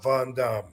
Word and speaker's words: Van Dam: word for that and the question was that we've been saying it wrong all this time actually the real answer to that yes seriously the name that I was given was Rob Von Dam what y believe it